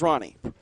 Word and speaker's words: Ronny: You know, we're going to get some pronunciation police out there telling us that Ronny should be pronounced Hani. He prefers Ronny. Prefers that hard R.